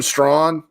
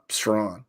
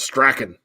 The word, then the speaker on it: Strawn: Jordan Strawn, that's a production thing, and that's how you say it. Strawn. Yep. Right. 10.5 sacks. I thought it was Strachan.